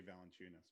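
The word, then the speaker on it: Valančiūnas: saying his name because you know how to pronounce it. No, it's actually Valanciunas, but it's okay. Valanciunas. Never mind. You don't know how to pronounce We it. just all said it 3 different ways. Valanciunas.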